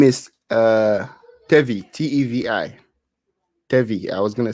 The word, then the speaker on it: Tevi: else we have yeah his name is uh tevy t-e-v-i tevy I was gonna say tavai but good he pronouncing himself so tevi yeah it would be